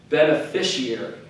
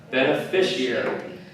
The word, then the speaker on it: beneficiary: ooh okay beneficiary right this is again where that C is kind of pronounced like the beneficiary beneficiary and that's the person